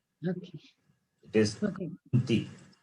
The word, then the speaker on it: कान्ति: Kanti. The problem is, it is Ka is there, we pronounce it as Ga. And Ti is there, the same mistake. Ti is pronounced as Dhi.